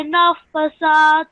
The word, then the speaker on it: النَّفَّاثَاتِ: خلق ومن شر غاسق إذا وقب ومن شر النفاثات في العقد ومن شر حاسد إذا حسد. جزاك الله. Okay, so over here, you also made the mistake with this, not pronouncing this word correctly. وَمِن شَرِّ النَّفَّاثَاتِ فِي الْعُقَدِ.